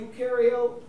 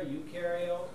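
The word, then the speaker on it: eukaryote: or multicellular multi multi UK carot or procario no when we looked at plant cells is there a nucleus yeah yes so what's the word for that U rhymes with do they do have a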